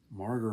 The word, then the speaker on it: Mauger: Marger Brothers, that's spelled Mauger, received their new motor freight truck from the John Yessie family factory in Pottsville.